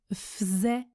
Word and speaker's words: faisait: Il se prononce i, je ne prononce pas le L quand je parle vite, et faisait se prononce faisait, il faisait froid, il faisait froid.